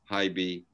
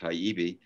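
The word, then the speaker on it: Hibey: wife anne pollard and richard hyby otherwise pronounced haibi ended up representing uh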